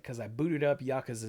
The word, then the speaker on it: Yakuza: Once I explained, that's the right way to pronounce Yakuza.